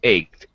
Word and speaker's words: ached: Or CH can sometimes be an SH sound, like in Chicago, the city of Chicago. Starts with CH. But in this case, it's ached.